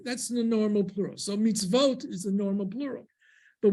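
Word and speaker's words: מצוות: So how do we know that it's mitzvot? There would be a shva before it. Say under the tzadi, mem, tzadi, vav, tav. Mitz, that's the first syllable, mitz. So you have to have a consonant sound after the syllable ends.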